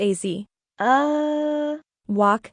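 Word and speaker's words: Azawakh: Azawak, $9,500. Say what? Pronounced AZ. Wak, members of the hound group are medium-sized dogs, 33 to 55 pounds.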